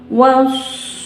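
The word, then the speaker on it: والصيف: Ila fihim rihlatasyita'i wassoyif. Nah, ini contoh yang kedua dalam Quran surat Al-Quraisy. Wassod ditasdid dulu dari wa langsung ke sod. Nah, tahan 2 ketukan.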